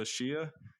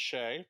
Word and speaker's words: Shea: porn addiction we are sitting down with joshua shia can you please introduce yourself and tell why you know about this topic yeah well uh it's pronounced shea but that's cool um i am a porn